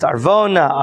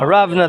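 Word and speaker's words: ארונה: I may not have an answer, but you should know the famous Gemara Masechet Avodah Zarah, Aravna It's pronounced Arvona, Aravna. There's several ways of pronouncing his name.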